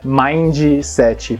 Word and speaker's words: mindset: Muita gente fala mindset. Parece que a pessoa tá falando mindset, mas a pronúncia original é mindset.